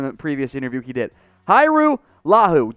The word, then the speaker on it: Hajrullahu: previous interview he did hiru lahu don't let the j confuse you that's that's in there i don't really know why it's it's a trick there's no j hyrule is how you pronounce